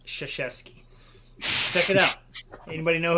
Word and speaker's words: Krzyzewski: If you ever look at how that dude's last name is spelled, there's no way that says Krzyzewski.